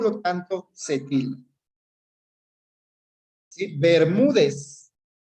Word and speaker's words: Bermúdez: Sí, Bermúdez. Polisílaba, Ber mú dez. Se acentúa, tiene el mayor acento de voz en la penúltima sílaba, termina en Z, es decir, en cualquier consonante, por lo tanto, se tilda.